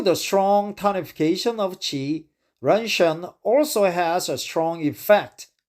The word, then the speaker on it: ren shen: Ren shen, right? Ren shen, ren sen. I heard the southern Chinese people pronounce it red sun, ren sen, but actually it's a ren shen.